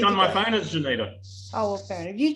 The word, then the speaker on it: Johnita: phone as Johnita. Oh, well, fair enough. You cheated. Well done. I had a guy tell me years ago, oh, so your name's Juanita. No, it's not Juanita.